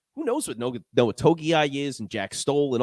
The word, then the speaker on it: Togiai: Did Noah how do you pronounce his last name again? I'm sorry. Togiai is the best Togiai, that's right.